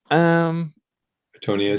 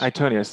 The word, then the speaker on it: Itonius: Antonius. Is that how you pronounce it? Antonius? Itonius, yeah, Itonius.